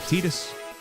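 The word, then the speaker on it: Tidus: the age old where almost unanimously everyone loves Titus and then canonically it's Tetus.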